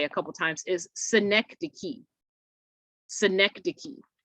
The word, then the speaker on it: synecdoche: a couple times is synecdoche synecdoche so that c-h-e at the end is pronounced like key like a k that c-h is pronounced like a k synecdoche so the definition of